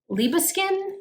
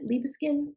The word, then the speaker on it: Liebeskind: 14.99 for it and i believe it's liba skin is how you say it leave a skin you see that made